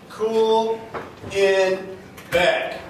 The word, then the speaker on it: Kuhlenbeck: back it's very easy day cool in bed it's a very rare